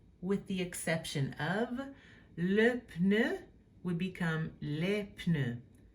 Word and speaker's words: pneu: the exception of le pneu would become les pneus. As you can hear, you pronounce the P.